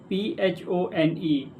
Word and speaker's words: phone: But English can be tricky because uh if we write P H O N E P H sound, it stands for phone. F sound, right?